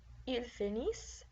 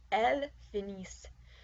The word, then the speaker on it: finissent: They masculine finish, ils finissent. And they feminine finish, elles finissent. Notice for they that the ENT ending is not pronounced.